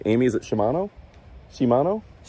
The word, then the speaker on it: Shimano: I don't know if I'm pronouncing that right. Amy, is it Shimano? Shimano.